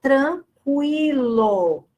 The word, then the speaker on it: tranquilo: Agora, fazendo aqui uma observação, na palavra tranquilo, veja, o U é pronunciado.